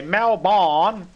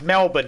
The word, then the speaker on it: Melbourne: they talk about Australia they say malabon it's Melbourne idiots say